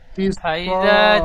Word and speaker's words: فإذا: فإذا جاء ফাইজা যা আতিস, আতিস, ফা জবর ফা। فإذا جاء الصاخة. মাশাআল্লাহ, সুন্দর বানান করেন। ফা জবর ফা। হামজা জের ই, ফাই। ফা টান হবে না, ফাই।